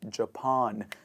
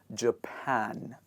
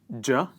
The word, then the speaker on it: Japan: not Japan, it is Japan. For example, like you have a pan that you cook the gravy in, that you basically cook your vegetables in, you say Japan. One more time, Japan.